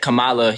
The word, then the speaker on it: Kamala: a few things that Camala you know only is how you pronounce her name Kamala whatever bro uh the